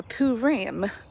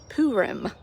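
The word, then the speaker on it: Purim: Haman cast lots or poo Ram poo Rim I think is how it's pronounced they cast lots and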